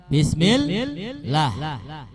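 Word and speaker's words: بسم الله: Bismillah. Ada di mana tasdidnya? Ya, fauqal lam, ada di huruf lam, lafzul jalalah. Jadi kalau enggak dibaca bacanya bismillah. Enggak pakai tasdid ya enggak boleh. Jadi harus pakai tasdid.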